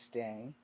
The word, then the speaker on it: Stang: Anyway, meanwhile, a young woman named Emily Stang was tending to her great-grandfather, Lucas Stang. I'm probably not saying it right, but S-T-A-N-G, like strange without the R and without the E.